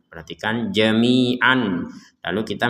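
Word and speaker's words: جميعا: yang awalnya ini tertulisnya Jamian perhatikan Jamian lalu kita membacanya Jamia Kenapa kita membacanya Jami bukan jami'an karena kita berh berhenti Yati bikumullahu Jamia maka huruf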